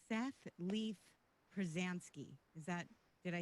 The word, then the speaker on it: Pruzansky: I love that his on Facebook, it's Seth Leaf Pruzansky. Did I say it right? Yep. Yeah. Pruzansky.